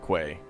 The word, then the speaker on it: quay: I usually hear it Quay. I usually read it Quay. But I think it's supposed to be pronounced K.